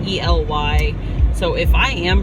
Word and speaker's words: Ely: I mean, we made it to, my family told me it was pronounced Ely, so I'm calling it Ely, Nevada. I don't know if I'm pronouncing it right. It's E-L-Y.